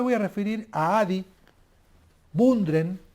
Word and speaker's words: Bundren: En primer lugar me voy a referir a Adi Bundren, o Bandren, como se pronuncia en inglés.